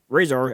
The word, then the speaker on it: Rahzar: In this video, I'm going to be talking about the NECA real toys Tokka and Rahzar, or Rahzar as it's sometimes pronounced, based on their appearance in Teenage Mutant Ninja Turtles 2, The Secret of the Ooze.